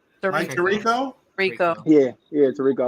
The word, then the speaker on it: Tirico: Was it Trico? Mike Tirico? Rico. Yeah, Tirico.